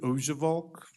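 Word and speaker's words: Oujevolk: record sure thanks sir my name is ojevalk I'll spell it if you want me to if it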